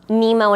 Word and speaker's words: Nimo: why not absolutely yeah now your name is nemo and it's spelt n-i-m-o yes now where did you get